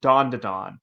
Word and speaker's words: Dan: I liked that um so the title is actually pronounced Dawn and he thought the